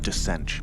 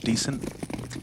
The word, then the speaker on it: Descent: Yeah, it's pronounced Descent, by the way, just in future. I know you like it when I give you those little pronunciation tips. Descent, decent. I've been making that mistake for most of my life.